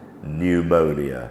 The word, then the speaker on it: pneumonia: of layouts for example when p and N come together um we thinking in terms of pneumatic pneumonia so no sound from